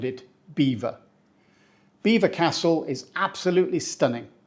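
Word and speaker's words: Belvoir: start with a classic this one is definitely not pronounced how it's spelled it's pronounced correctly Beaver Castle we do not say Belvo or BVO or anything even remotely French sounding yeah it looks French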